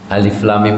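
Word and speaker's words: الم: Alif lam mim itu bacanya juga harus benar. Alif af. Alif lam mim lam mim. Jadi ini panjang lam dan mimnya. Dan dari lam ke mimnya saja ada tasdid.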